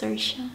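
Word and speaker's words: Saoirse: is in Maguire but I know sersa is not s see it's sersa so ring acire racing I'll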